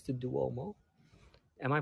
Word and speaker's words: Duomo: I love the roofs on a higher location where we see some of the towers of and I think it's the Duomo. Am I pronouncing that on the right way?